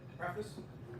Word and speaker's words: preface: The first chapter, the preface, prefix, no, not prefix.